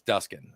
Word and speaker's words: Duskin: to be called and the person pronounced it the same way that you did and I stood up and my dad said it's it's duskin I was like Dad